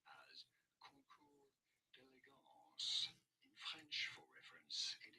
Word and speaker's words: concours d'élégance: say it as concours, the S is silent here, concours d'élégance, concours d'élégance. Did you get this? Was this anyhow popularly used around car, beauty, or elegance competitions? So how do you go about pronouncing it? I think they do them for horses as well and all sorts of things. In English, this is normally said as concours d'élégance. In French, concours d'élégance.